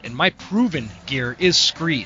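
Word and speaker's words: Skre: And my favorite and my proven gear is Scree. Scree is spelled S-K-R-E. It's kind of a play on the word from scree rock found at the bottom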